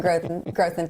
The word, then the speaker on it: Grothman: Glenn Grothman, Congressman, you corrected me on that pronunciation last summer, and I haven't forgotten, but I did for a split second. Congressman Grothman, thank you for being here.